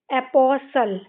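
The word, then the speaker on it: apostle: इसमें भी लास्ट में क्या आया है? टी एल इ। तो एस टी एल इ आया है तो इसमें भी क्या हो जाएगा? टी साइलेंट हो जाएगा। तो हम इसको क्या पढ़ते हैं? एपॉसल और लास्ट की इ हम पढ़ते नहीं हैं। तो ये क्या हो जाएगा? एपोसल।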